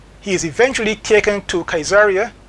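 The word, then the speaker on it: Caesarea: He is eventually taken to Kaiseria Cesaria some would pronounce it uh for trial before the Roman and Jewish authorities.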